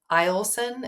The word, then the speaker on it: Eielson: we have Eielson.